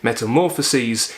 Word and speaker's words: Metamorphoses: Metamorphoses is the Greek word for transformation, though you would pronounce it metamorphoses.